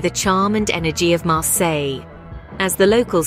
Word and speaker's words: Marseille: swept away by the charm and energy of marsill as the locals say be on Vue a Mars or Welcome